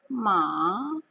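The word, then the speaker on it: mǎ: Yang ketiga, agak melengkung sedikit di atas A-nya. Kita akan mengayun. Ma. Sudah turun, naik lagi. Ma.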